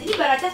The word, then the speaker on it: Baracas: Baracas bukan Barakas ya bacanya ya?